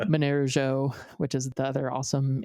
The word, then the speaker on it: Monero: So like when I try to say Monero, which is the other awesome Android wallet for Monero, it took me 7 years to learn how to actually pronounce it properly because I don't speak Esperanto.